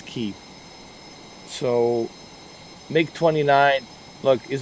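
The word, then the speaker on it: Kyiv: have it four hours of uh make 29 keeve or kiev but uh properly pronounced it's keep so make 29.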